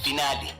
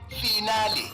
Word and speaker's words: finale: over guide to mispronunciation today's word finale origin Italian pronunciation finale meaning the last part of a series is commonly mispronounced as final as if you're discussing your metric results example I can't wait to see the final results of Master shf if